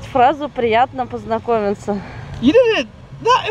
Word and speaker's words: приятно познакомиться: Итак, сегодня мы учимся произносить фразу «приятно познакомиться».